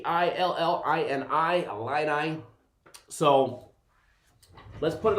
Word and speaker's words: Illini: Rich, it's spelled with an I, not an A. Starts with an I, not an A. I-L-L-I-N-I, Illini.